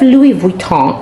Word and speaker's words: Louis Vuitton: If you have Louis Vuitton, friends, let me do the proper pronunciation. If you have Louis Vuitton, as their French would say, send it to Thread Up if it's not selling for you.